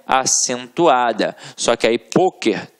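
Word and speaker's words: pôquer: Só que aí, poker tem uma pronúncia fechada, e aí leva o acento circunflexo.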